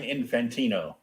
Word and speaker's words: Infantino: fantano how do you say it oh carmine infantino yeah um i've got his uh like complete